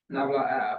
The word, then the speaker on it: nabla: down triangle, which is called nabla of f, and nabla f. Let me just write it down right here, nabla. So this is the pronunciation. I want you to make it as simple.